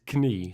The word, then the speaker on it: knie: Knee in Dutch is knie. So we do pronounce the K. So the K is not silent in Dutch.